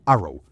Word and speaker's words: ARRW: La marina tiene ataque convencional rápido y la fuerza aérea, el ARRW, que se pronuncia Arrow, al final es el ejército de Estados Unidos.